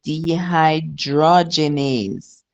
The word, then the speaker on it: dehydrogenase: Creatin phosphocides LDH lactate dehym Imagine you're saying dehydration but is dehydrogenase.